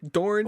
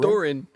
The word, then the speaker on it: Doran: We are introduced to Doran, who is what's his face's brother? There was some creativity in the naming. Dorn and Oberyn? Doran.